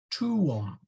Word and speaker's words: tuum: Tuum. Tuum, which means thy, is pronounced tuum, not like tomb, but tuum.